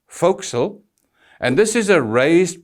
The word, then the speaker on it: forecastle: The foredeck is the deck of a ship from the superstructure to the forecastle, and please note it's spelt forecastle but pronounced forecastle, and this is a raised part on the foredeck at the bow.